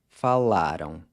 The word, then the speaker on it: falaram: You guys spoke, vocês falaram. Once again, that AM is pronounced ão.